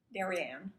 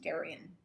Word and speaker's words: Darien: the formal party at darien pronounced apparently darian oh it's pronounced darian spelled i should say